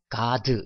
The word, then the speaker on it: god: god 해볼까요? god, god 이렇게 하는 게 아니라 드 발음을 밑으로 가 밑으로 보내는 거죠. 그렇게 해서 god 이렇게 됐고요.